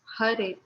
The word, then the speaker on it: Hare: He explained that Hare Krishna, pronounced Hare, is the name for Vishnu, a Hindu god, as the bringer of light.